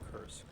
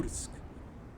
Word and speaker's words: Kursk: And so they took more territory than the German army did when they tried to take Kursk, or Kursk would be the better pronunciation.